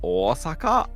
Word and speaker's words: Osaka: Well, Osaka.